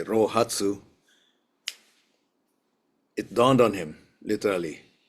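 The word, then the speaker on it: 臘八: And lo and behold, on the morning of the eighth day of the 12th month in Chinese, pronounc in Japanese way roatsu, it dawned on him literally what that was.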